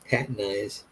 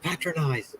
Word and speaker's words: patronize: They're always like, "Don't patronize me." I'm like, "It's patronize, patronize."